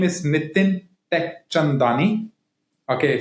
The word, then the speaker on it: Teckchandani: My name is Nitin Teckchandani. Okay, so tech is already in my name, right?